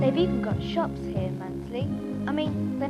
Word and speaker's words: Mundesley: It says Mundesley, but somebody told me the locals don't pronounce the middle bit. Mundesley seems to be the right way to say it.